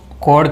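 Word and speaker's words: chord: English में इसको कोड कहते हैं हम लोग, ठीक है। क्या कहेंगे? जीवा या कोड कहेंगे हम लोग। आर साइलेंट रहता है, आर क्या रहता है? साइलेंट, ठीक है।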